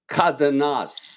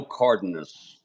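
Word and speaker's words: Cárdenas: Yes, and that'll bring up that's pronounced not Cardenas. How do you pronounce his name? Well, technically it's Cardenas, but okay. In Spanish, but I go Cardenas. Okay, because I used to call him Cardenas, like Dennis.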